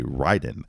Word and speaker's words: Raiden: if you're ever wondering the proper way to say it is it raiden or ryden the commercial does say ryden so uh the train